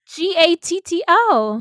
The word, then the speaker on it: Gatto: Joe Gatto. It's Gatto. Yeah, G-A-T-T-O. Gatto. No, I you just know. it But sounds not- like you're saying ghetto. Thank you. Gatto.